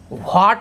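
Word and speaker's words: what: व्हाट नहीं पढ़ना, याद रखना, WH में वा पढ़ना, व्हाट, don't say why, where, this is wrong, व्हाट, where, when, like this. तो H का प्रोनाउंसिएशन कहीं ना करें आप, याद रखना, WH में सिर्फ W प्रोनाउंस होगा।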